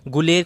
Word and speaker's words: गुलेर: ठीक है, गुलेर को गौलेर भी बोलते हैं कहीं, गौलेर मीन्स रिलेटेड टू गाय। ठीक है, ग्वालियर से आए थे ये राजपूत, तो ये गौलेर या गुलेर, द वे you want to pronounce it.